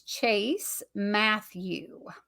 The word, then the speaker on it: Matthew: it because it's um it's Chase Matthew and I and I think people want to say Matthews but I'm like making sure that I say it properly okay so Chase Matthew